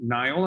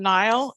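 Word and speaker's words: Nial: next up is nile i believe if i say that right that's correct my name is nile and the last name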